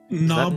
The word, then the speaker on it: Knob: So knob will not with a silent K or no?